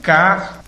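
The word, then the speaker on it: κύριος: A palavra aqui para Senhor foi Kurios, K-U-R-I-O-S. Então, eu vou pronunciar do jeito que foi feita a tradução para o português, né?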